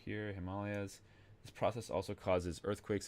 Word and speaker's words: Himalayas: Fun fact: in Nepal they actually pronounce this Himalayas, not Himalayas.